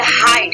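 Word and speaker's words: height: करेंगे हम साइलेंट होता है और इसको हम प्रोनाउंसिएशन नहीं करते। नेक्स्ट देते हैं HIGST, हाइट, हाइट होता है, ठीक है।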